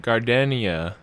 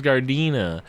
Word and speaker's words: Gardena: you're talking about Gardenia. Yeah, The orc. the Yeah, wicked. the orc. Oh, yeah. Wicked. Oh, we're That's her all new still pronouncing it subtitle. incorrectly. Her name's Gardena.